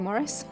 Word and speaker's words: Maurice: where Terry pratchett's like it's actually Morris oh no well I look stupid police he says it all the time Maurice Maurice Maurice I say Morris Maurice well obviously there's only one correct pronunciation and that is Morris or Maurice take your pick honestly well it depends